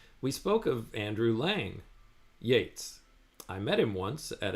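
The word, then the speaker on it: Yeats: to help you um you are pronouncing ye's name like the word beats um but I I was hoping that you would start pronouncing it like the word Gates so Yates like rhymes with Gates can you pronounce it like that from now on got it I'll pronounce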